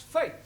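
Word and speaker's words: fête: for example f e t e is also pronounced Fai no one no no our feet I told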